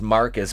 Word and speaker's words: Marquise: ryan and marquise marcus stupidly pronounced marcus but spelled marquise have a race swap